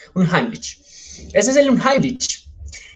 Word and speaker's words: Unheimlich: Yo no sé mucho de alemán, por eso me tomé el trabajo de buscar la pronunciación. Entonces, escuchen cómo se pronuncia. Unheimlich. Unheimlich. Yo dije otra cosa. Unheimlich.